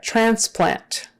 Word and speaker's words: transplant: therapy therapy all right transplant transplant transplant that's pretty straightforward i think transplant but anyway the the accent is on the first syllable transplant ultrasound ultra sound